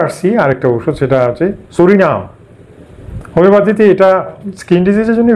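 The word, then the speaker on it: Psorinum: ভূমিকা দেখা গেছে আর সেটার জন্যই আজকে বললাম সরি নাম হুম বানানটা বড় সুন্দর পি এস ও মানে প্রসরিনাম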